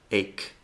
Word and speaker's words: ache: Lo más común es pronunciarlo así, como ch, pero luego tenemos otras palabras donde la CH se pronuncia como si fuera una K. Stomach, ache, Christmas, chaos.